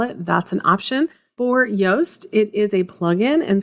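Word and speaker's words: Yoast: word you are saying it is yast so it's spelled just like toast but instead of a t at the beginning it's going to be a why y SEO has so many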